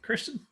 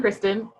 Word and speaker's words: Kirsten: Kirsten, what's up with you? First off, thank you for saying my name correctly. I get Kurstin and Kristin all the time.